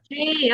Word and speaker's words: chemistry: Chemistry. Oh, iya. Chemistri ya. Chemistry. Jadi tulisannya tulisannya kan chemistry tapi bacanya adalah chemistry. Oh, ya. Jadi chemical bacanya dia adalah chemical.